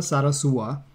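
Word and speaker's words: Zarazúa: in the world Renata Sara sua makes the semi-finals in her home country good pronunciation there because there's an accent on the you yes so it's not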